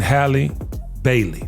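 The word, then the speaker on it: Halle Bailey: I saw on social media uh ddg and Hy Bailey that's how you say her name I love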